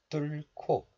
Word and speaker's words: 뚫고: So this letter is pronounced as 뚫 in isolation, and it's followed by a consonant of the next letter, 기역. So the hidden hiut sound, H sound, is combined with the consonant 기역 of this letter, and it becomes 기역, K sound. So 고 becomes 코. So this is pronounced as 뚫코, 뚫코.